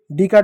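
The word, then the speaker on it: donkey: डी का ड हो गया, डी का ड हो गया, ओ साइलेंट हो गया, एन का न हो गया, के का क हो गया, ई वाई का बड़ी की मात्रा हो गया डंकी। उसी प्रकार एच का ह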